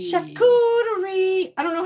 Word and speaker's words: charcuterie: Charcuterie. Charcuterie. I don't know how to say it unless someone says it. So I just think of Charlotte. And then be like charcuterie.